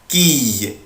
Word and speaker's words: quille: اخلي بالي من الصلب ده بنطقه اي اي quille quille une quille une quille.